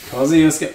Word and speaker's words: Kosciuszko: Kosciuszko. Well done. That's Nice, it. bro. Yeah. No, Or nice. Kosciuszko. Yeah. Kosciuszko.